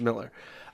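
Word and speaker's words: Millar: it should be pronounced that way there is pronounced Miller it's called nemesis the the idea is that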